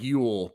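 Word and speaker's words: Llull: Sarah lets me know that Sergio it's pronounced like Yule, but this dude, just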